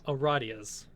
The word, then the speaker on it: Aradia: So I'm just going to say we're going to aradias. It is pronounced aradia.